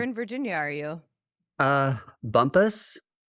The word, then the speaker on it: Bumpass: Virginia are you uh Bumpus yeah spelled Bumpass yeah Bumpass what like sister city